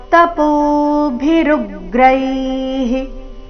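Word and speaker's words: ತಪೋಭಿರುಗ್ರೈಃ: ಭಿರರ್ ತಪೋ ಪೋ ದೀರ್ಘ ತಪೋ ಭಿರುಗ್ರೈಹಿ ಭಿರುಗ್ರೈಹಿ ಋ ಮೇಲೆ ಆಘಾತ ವಿಸರ್ಗದ ಉಚ್ಚಾರಣೆ ಹಿ ಎಂದು ಬರಬೇಕು ತಪೋ ಭಿರುಗ್ರೈಹಿ ಏವಂ ರೂಪ ಶಕ್ತ್ಯ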